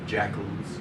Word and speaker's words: JACL: people were called either jackals, JACL, Japanese American Citizens League. The initials JACL could be pronounced jackal when you pronounce that, or inu, the Japanese word for dog.